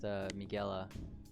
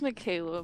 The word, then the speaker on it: Michaela: I'm here with Miguela, or Mickey. It's Michaela, but Oh, you know, it's fine.